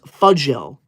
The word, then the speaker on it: Fuil: to be that person my name is pronounced Fel okay fudgel thank you